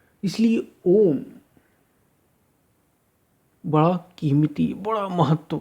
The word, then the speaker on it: ओम: ओम ध्वनि, अ उ और म।